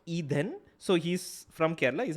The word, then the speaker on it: Eden: name is called eden appleton and eden is pronounced e then so he's from kerala is a malyali and